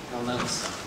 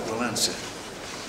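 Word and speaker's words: Wałęsa: Walensa, yes. It is, without an N, but it comes out Walensa.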